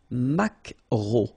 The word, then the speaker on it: maquereau: So technically this K, just pronounce it K, mac, macro, macro. Alright, and then E, A, U, remember when you combine these three vowels, you get the sound O, macro, okay?